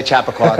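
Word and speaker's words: Chappaqua: from Chipawa New York I'm pronouncing that correctly well you say chapaa I say chapaqua all chapaqua all right we'll give you that one I understand that uh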